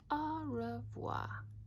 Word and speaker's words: au revoir: fans au revoir you say it like this au revoir that's French for goodbye on my door I